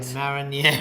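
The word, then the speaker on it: Marinières: Today we're cooking up the most famous dish from Belgium, Moules Marinieres, right? Marinieres.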